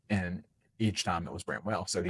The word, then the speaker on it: Bramwell: And each time it was Bramwell.